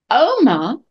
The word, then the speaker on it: oma: but notice be careful oma the accent is on the o not on the a so it doesn't get